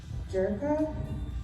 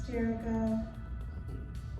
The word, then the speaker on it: Jerica: Jerka, as she went through the tone, half side. It's Jerica.